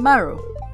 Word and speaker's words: Maru: Or Meiru. Or how do you pronounce her name? I'm Maru.